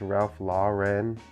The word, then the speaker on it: Ralph Lauren: The former, it's pronounced Ralph Lauren.